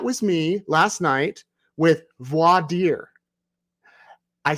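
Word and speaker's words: voir dire: about but last night I mispronounced it I said VOR dire or something like that and I heard about it from you all so thank you for your messages voidir voi means true it's a French word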